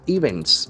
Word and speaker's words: event: Adverse Then comes events. Okay, event, event. That's a very interesting noun form. event, Event. See the accent for the second syllable.